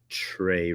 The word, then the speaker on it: Tra: Is this a Trey Rags thing? Gotcha. So he spells it TRA, but he pronounces it Trey.